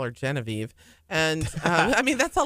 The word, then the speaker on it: Genevieve: She likes it pronounced in the French way because there's French Cajun in my husband's blood too. And she likes Genevieve. Genevieve. That's the Parisian way of saying it, and it's Genevieve.